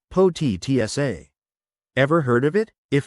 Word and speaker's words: Potica: That's when I stumbled upon Potica, pronounced Potica.